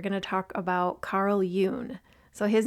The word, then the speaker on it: Jung: And we're going to talk about Carl Yun. So, his name is spelled J U N G, but it's pronounced Yun like it rhymes with moon in case you're wondering.